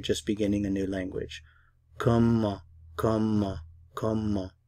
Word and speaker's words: comment: The word how is comment, comment. How? Comment. How? Comment. I'm not pronouncing the T at the end of the word.